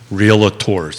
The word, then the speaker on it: Realtors: real estate agents and realtors. Did I get that right? It's got only it right. two Work in syllables. progress. Realtors. 2 syllables, not 3.